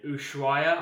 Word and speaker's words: Ushuaia: the way down through the Americas, finishing in Ushuaia, I believe it's pronounced, in Argentina.